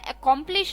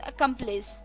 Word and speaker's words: accomplice: जी हाँ, मैं accomplish नहीं कह रही हूँ, मैं कह रही हूँ accomplice, ACCOMPLICE, accomplice, ACCOMPLICE, accomplice.